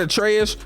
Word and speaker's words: Atreus: So after this, you remember when I told you that Atreus rhymes with Betrayus?